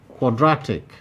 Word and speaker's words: quadratic: 16 quadratic quadratic quadratic this also has three syllables option b in option b draw is highlighted to indicate that that is the place that receives the greater emphasis of greater prominence when this word is produced and therefore it is replaced with the primary stress 17 synthetic synthetic this